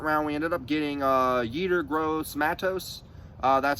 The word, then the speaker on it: Yetur Gross-Matos: Moving on, though, I'm going to, you know, in the second round, we ended up getting Yetur Gross-Matos.